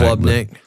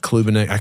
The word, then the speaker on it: Klubnik: Klubnik, not Klubenik.